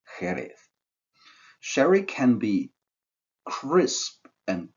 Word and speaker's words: Jerez: So the English name Sherry is the, let's say, not perfectly pronounced Spanish Jerez.